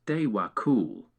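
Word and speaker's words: Djwhal Khul: The Old Tibetan is sometimes also called Diwa Kul, pronounced Dewa Kul.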